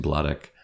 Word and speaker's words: Sladek: battle between Dario Sladek I keep saying blade ik it's actually blood ik I gotta pronounce that